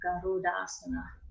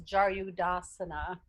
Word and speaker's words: Garudasana: Garuda, then asana becomes a long A in Garudasana. And I was taught first off that eagle pose was Jaryudasana. No. I know. So yeah, it's Garuda.